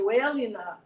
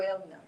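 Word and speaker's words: Rajoelina: magic juice that our president andre roger roger eliana his name is so hard for me to pronounce r-a-j-o-e-l-i-n-a roger elena um he touted this as being the magical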